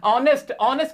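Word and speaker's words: honest: लगाओगे, ऑनेस्ट के साथ, इसमें भी आवाज वैसे तो एच है लेकिन एच साइलेंट है, आवाज ओ की आ रही है, वॉवेल साउंड है, तो इसके साथ भी एन आ जाएगा।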